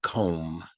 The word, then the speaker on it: comb: work on the word comb why is there a silent B interesting think about what